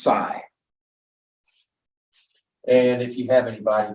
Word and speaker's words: psi: but the wave function this Greek letter looks like a pitchfork is uh pronounced PSI and if you have